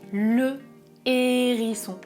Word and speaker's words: hérisson: C'est un H aspiré. Je dis le hérisson et au pluriel des hérissons.